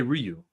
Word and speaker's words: Ryu: I say Ryu. It's actually U is what it really is. The R is actually silent. Yeah. You don't mean that. I do. Yep, I do. It's actually you. The R is silent. It's crazy, right? All my Japanese friends, real Japanese, they say it's just you.